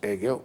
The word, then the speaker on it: Hegel: Hegel, que nós aqui pronunciamos Hegel, mas eu fui pesquisar a pronúncia, os alemães falam Hegel, com a utilização